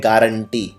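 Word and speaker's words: guarantee: बाद यू लगता है इसको लेते हैं गुआरेंटी लेकिन बोलते हैं गारंटी तो जैसे आप किसी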